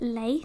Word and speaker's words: Leif: to be Leif, and it's spelled like it kind of looks like leaf, but you pronounce it Leif.